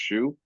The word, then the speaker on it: Xu: I think their last name is XU is pronounced Shu.